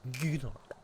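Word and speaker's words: Gnorc: Nasty Nork, or Gnork, as everyone pronounces it in this game.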